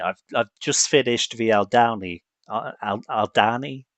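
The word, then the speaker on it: Aldhani: I've I've just finished the Alani Alani, how do you say that? Aldani Alani arc.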